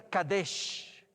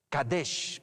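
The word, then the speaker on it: קדש: Primer punto, el 1 se pronuncia Kadesh. Kadesh, pues se los he puesto de paso escrito.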